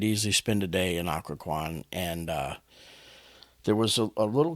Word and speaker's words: Occoquan: So we drove through a town, and I actually made sure that I'm going to pronounce this one correctly, but it's called Occoquan. And it's Occoquan, just for those that aren't familiar.